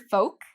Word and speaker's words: folk: So with the word folk, there's no L pronunciation, folk.